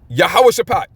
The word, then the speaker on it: Yahawash: Yahawash. That's how you say it in the um in the uh Hebrew, which that's the language this was written in.